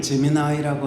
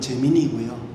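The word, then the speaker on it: Gemini: 유튜브를 이렇게 보다가 구글 제미나이라고 하는 것에 대한 소개 유튜브 영상을 봤습니다. 근데 한국식 발음을 하면 제미니고요, 미국식으로 하는 걸 이제 제미나이라고 부르더라고요.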